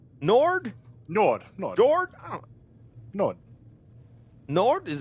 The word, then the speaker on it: Njord: Njord? Nord? Nord. Jord? Nord. Nord? Is it okay? I think there's like a proper pronunciation. I think it's Njord, but like Nord.